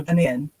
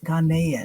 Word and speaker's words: Ghanaian: heard someone pronounce it Ghanaian. And I was like, I don't know. I'll ask him. Well, depending on accent, so so yeah, it can vary in sound, but it is Ghanaian, whichever one is fine.